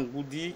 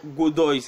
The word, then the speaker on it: Godoy: Je vais dans Goody qui est 13e. Je vois que Goody a aussi un problème de défense. Dans tous ses matchs, Goody a... Godoy, excusez-moi, je prononce mal son nom, Godoy Cruz.